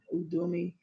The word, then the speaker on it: Udemy: I know I'm probably going to do a Udemy. Is it Udemy or Udemy? I don't know how to pronounce it. It's Udemy.